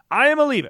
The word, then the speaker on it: Iamaleava: I mean, it's literally in his last name. It is right there that he is going to leave. Iamaleava. That is how you say that he is gone.